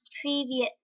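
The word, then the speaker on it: Привет: So it's Privyet.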